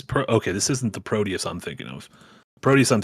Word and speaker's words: Proteus: one I would have said Proteus pronouncing the T as the English accent does not produs with a d That's cuz uh lazy